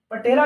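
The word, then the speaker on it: patella: की छोटी सी हड्डी, इसको हम पैटेला बोलते हैं। पटेला लिखते हैं लेकिन पैटेला प्रोनाउंस करते हैं, पटेला मत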